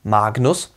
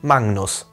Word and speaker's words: magnus: Die Buchstabenkombination GN im Lateinischen wird nicht wie GN, sondern wie NGN ausgesprochen. Das macht das Ganze etwas einfacher zum Aussprechen. Dann sagt man eben nicht Magnus, sondern Magnus für das Wort groß.